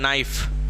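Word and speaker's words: knife: एक इधर बता है नाइफ के एन आई नाइफ है ठीक है के साइलेंट रहता है ठीक है एई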